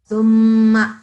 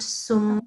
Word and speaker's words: ثم: Okay, so thumma like this, okay? Not sum because it's not seen, it's tha. And tha is, the sound is made by putting the tongue in between your teeth.